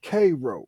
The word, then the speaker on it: Cairo: one place called Cairo if you look up Cairo on the map the people there call it cro so are they wrong